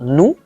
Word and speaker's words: nous: When a word ends in a consonant in French, you do not pronounce the consonant. Yes, so the word is pronounced nous and not nous.